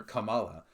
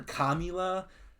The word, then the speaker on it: Kamala: Unless you're calling her Kamila, commie, then you're just stupid, but at least you're not racist.